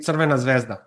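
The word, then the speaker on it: Crvena zvezda: How do you pronounce the the real name? The real name is actually Serena Zvezda. Svena Zvesta.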